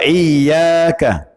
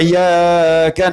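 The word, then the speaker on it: إِيَّاكَ: iyakah FW Bang Nah kalau orang membaca Iya gak ada tasdid hanya kepadamu nak Buduh kami menyembah wa iyyaka hanya kepadamu nasta'in kami mohon per maknanya benar tapi kalau diucapkan tanpa tasydid ia karena abu2 iyyaka nastain ada tasdid ada Apa maknanya ulama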